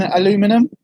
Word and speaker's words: aluminum: it really interesting that the Americans don't pronounce the I in aluminum.